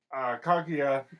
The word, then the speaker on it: Kaguya: What happens in that particular sequence, Kaguya walks by.